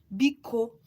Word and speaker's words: Biko: So, Biko in our please in our dialect is called Biko. So let me just spell it for you.